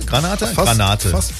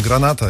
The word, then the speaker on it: Granata: Granata? Granate. Fast richtig ausgesprochen, Granata, ja.